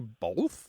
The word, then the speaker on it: both: first talked about this pronunciation of B-O-T-H, both, on the show, I created a survey and put it online. How do you say both? Do you say bolth, B-O-L-T-H?